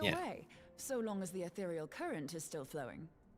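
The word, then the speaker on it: aetherial: See, she said athereal. Why do they say ethereal? She says athereal. I I I like moon brea. We on the same page. A is silent. No, she said athereal. Truly, how I hate these extra letters for no damn reason. This letter is silent.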